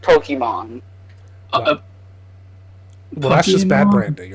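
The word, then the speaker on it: Pokimane: No, but even she has said that it's pronounced Pokemon.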